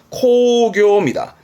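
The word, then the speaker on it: 興行: 이거 시험에 나왔던 건데 발음은 이때도 코입니다. 코교입니다.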